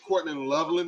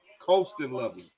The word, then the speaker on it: Colston Loveland: when it comes to, this new what is Courtland Loveland is his name? Is that how you say it? Colston. Colston Loveland.